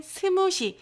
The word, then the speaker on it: 스무시: 읽기에는 호석이 이제만 그 대만 사람들이 읽기에는 스무시 스무디에 가까운 발음 스무시 읽기 때문에 이런 표기를 쓰는 것입니다